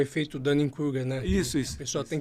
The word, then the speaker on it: Dunning-Kruger: Como é que é a pronúncia? Dunning-Kruger.